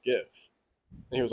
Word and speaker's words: GIF: There was like, actually, it's pronounced GIF, and he was like, no way.